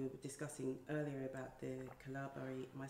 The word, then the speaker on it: Kalabari: And then there's obviously the fact that what we were discussing earlier about the Kalabari, am I saying it correctly? Kalabari. Kalabari.